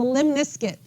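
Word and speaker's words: lemniscate: last category is a limniscuit it rhymes with Limp Biscuit that's how you can remember it limit okay so our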